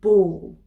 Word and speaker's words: bawl: of all we have ball ball pronounced the same as ball as in football but spelt b-a-w-l if you ball then